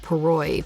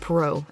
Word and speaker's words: Poirot: been watching the first season of Agatha Christie's Poirot Poirot you think I know how to say it Poirot and I found out he is not in